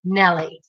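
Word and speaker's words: Maile: to pronounce my name even though it's spelled m-a-i-l-e it is pronounced nelly i'm going to have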